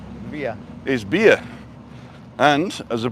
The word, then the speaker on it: villa: So every time you say villa, you're mispronouncing 2 letters wrong. The Spanish pronunciation of villa Via.